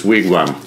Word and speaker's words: Wigwam: a different band but this is Wigwam like the house where Indians used to do their thing I was